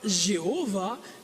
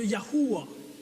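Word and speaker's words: Yahweh: Dieu au complet YH la prononciation très certainement serait non pas Jéhovah mais serait très proche de yahua vous avez entendu Yahoué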